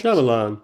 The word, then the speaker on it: Shyamalan: by Ishana Knight Sham Sham I can never pronounce it. Shyamalan Shyamalan.